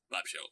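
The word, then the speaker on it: Bob Sheaux: you and said the guy whose name is bob schuchs bob shows bob's shoes what bob show bob show right thank you i've been a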